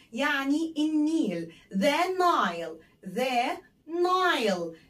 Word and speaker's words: Nile: The Nile. هنا الإي خبطت الآي على دماغها فكانت بتنطق زي الآي، زي اسمها بالظبط.